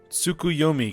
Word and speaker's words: Tsukuyomi: tea you claim us a table alright it's pronounced tsukuyomi correct I figure from Far Eastern mythology no